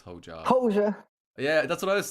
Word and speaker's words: Hoca: I think it's actually like Hoja or something like that, but I can never pronounce it correctly. Hoca? Oh, Like, Hoja, is that how you say it?